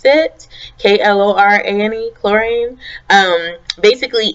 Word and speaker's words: Klorane: This is the Laboratories Klorane, I guess that's how you pronounce it, K-L-O-R-A-N-E, Klorane.